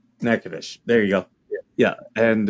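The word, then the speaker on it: Natchitoches: side uh a town uh n it's not nachid docious uh but it's naous I think nadish okay yeah you pronounce it nacadish nacadish there you go yeah and uh he was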